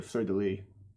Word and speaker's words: fleur de lis: It seems eventually they added the fleur de lis, which, if I recall correctly, the French actually pronounce the S at the end of that. Fleur de lis. They say fleur de lis.